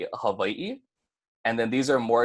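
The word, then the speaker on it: Hawaiʻi: take Hawaii for example it's gonna create a break in the last two E's at the end of that word so instead of Hawaii it's gonna be a hub ie and then these are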